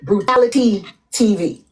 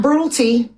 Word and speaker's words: Brutality TV: That blog page is called Brutality TV. Not Brutal T, not Brutally T, not Bumper T, not anything else y'all calling it. Brutality TV. So if you're gonna say their name, say it right, because when y'all said